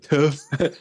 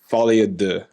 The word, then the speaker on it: Folie à Deux: It's my version, my mix of the cult, because in French it's like deux. So I was doing deux. That's the Americanized version for all you French viewers out there. I'm sure we have many. Yeah, it's actually, so I told you we're not going to pronounce it correctly, but it's actually folie à deux, I think.